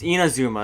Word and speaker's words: Inazuma: Yeah, I'm gonna change the name because I actually spelled that wrong. It's Inazuma. That's why I had so much trouble pronouncing it.